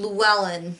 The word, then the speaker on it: Llewellyn: Well, you pronounce her name Llewellyn.